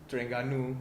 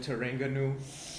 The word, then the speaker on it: Terengganu: Like in documentaries, they don't say Terengganu, they call it Terengganu. So It sounds like oregano or whatever. yeah, it sounds like it's Australia or something. I'm going to Terengganu, mate.